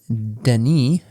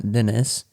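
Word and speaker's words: Denis: how you say it it is Deni not Dennis uh Deni VN okay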